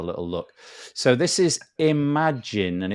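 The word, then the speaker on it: Imajinn: and have a little look so this is Imagine and it's spelled in a funny way it's i m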